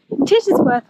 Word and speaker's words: Tittesworth: so double check and ask how the like the name is pronounced and it is tits Worth Water so if you are